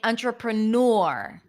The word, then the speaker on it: entrepreneur: ner entrepreneur entrepreneur entrepreneur or you might hear people saying entrepreneur which is very similar it's more of an or or or I also heard people saying entrepreneur new with a Y sound but I think that for non-native speakers just to connect the N to the r Nur is the easiest so you can